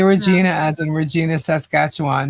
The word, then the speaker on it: Regina: Oh, so it's Regina. Then why is it spelled with one e? Regina. Regina. Huckle. Huckleji. Reginina. Regina. It's reginina. Rhymes with vagina.